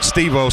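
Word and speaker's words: Estêvão: The affforementioned Steo. It's played inside to Fara. So, anyone who dips in and thinks we're getting his name wrong, there is no E mentioned or not pronounced in his name.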